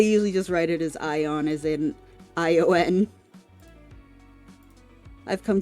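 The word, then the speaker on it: Aion: Ion. It's spelled A-I-O-N, but it's pretty much just pretending like the A is silent. Silent Ace, got it. Yes, so you can just literally say Ion.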